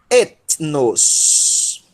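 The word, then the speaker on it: ἔθνος: Cuidado para não querer ler o ni como V, tá? Em grego não tem o som de V. Ok? Etnos.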